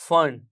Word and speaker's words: Pfund: Series of radiation है, that is फन, जिसे हम PFUND लिखते हैं। याद रखिए यहां पर P साइलेंट है।